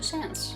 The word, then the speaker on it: Sans: Sans with a silent D, so sans.